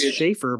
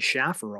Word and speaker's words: Schaefer: My name's Schaefer, but people call me Schaffer all the time.